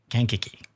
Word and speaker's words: Kankakee: But I will thank you for the proper pronunciation. Kankakee. Kankakee.